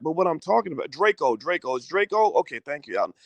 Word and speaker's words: Drakeo: checked it out and i pronounced it draco or drachio but it's draco draco the ruler my apologies so so